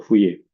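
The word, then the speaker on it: Fourier: Jadi bukan fuy bacanya fuy karena orang Prancis jadi bacanya tulisannya adalah atau fuye.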